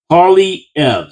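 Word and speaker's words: Poilievre: Oh, try this for pronunciation from Penny Brookifi. Paulie Ev. Say it out loud. Pauly Ev, our soon tobe PM Pauly Ev.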